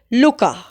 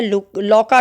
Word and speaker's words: Louka: Next character भी interesting है, जिसका नाम है लुका। इसका नाम रहता है लौका कह दो, लुका कह दो, प्रोनाउंसिएशन पे थोड़ा ध्यान ना देते, लौका, LOUKA, लौका।